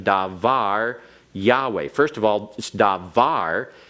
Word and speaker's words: davar: cannot retain the pronunciation davar Yahweh first of all because you have an accent on davar it is a word that has its Accent on the last syllable which is the normal